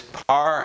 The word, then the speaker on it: par: 1 tau 2 and the typical pronunciation is par and this is going